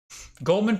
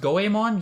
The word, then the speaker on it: Goemon: i think somewhat surprisingly goldman pronounced goemon yeah that's crazy i'll probably never call it goemon in my life i'm